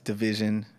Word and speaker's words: DVSN: any social media platform that's dvsn that's division it's just a cool way to spell it for the people